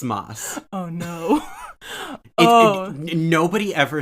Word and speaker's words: Mads: yeah it's mas it's not it's mine it's moss oh no nobody ever says it right but it's it's pronounced more like moss than it is mads interesting well well well